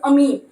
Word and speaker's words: ammine: That is नॉट अमाइन, इट इज अमीन.